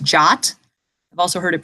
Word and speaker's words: JWT: what the heck is the JWT frequently pronounced jot I've also heard it